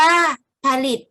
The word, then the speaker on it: ผลิต: ไป ถึง ผู้ อื่น ผลิต อ่าน ว่า ผลิต หมาย ถึง ทำ ให้